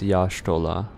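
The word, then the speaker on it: Y'shtola: Especially whenever um Aron talks, he normally pronounces it as Yashtolah.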